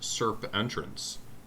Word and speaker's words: Serpentrance: to point out that the band name could also be pronounced serp entrance could be either one yeah yeah uh so